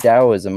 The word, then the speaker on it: Taoism: or is it PR is it pronounced Daoism? I've I've heard it pronounced both different ways. It's I mean, it's technically it's kind of like between a D and a T, so it's sort of like close enough.